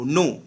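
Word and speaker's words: know: কে এন ও ডব্লিউ নো, নো মানে জানা, এখানে কে সাইলেন্ট।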